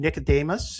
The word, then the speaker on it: Nicodemus: And uh I want to thank uh Aaron Nicodemus. Is that how I how you pronounce it, Aaron?